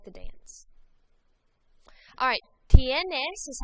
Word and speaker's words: tienes: So repitan, tienes. Tienes. Make sure you pronounce that I and the E.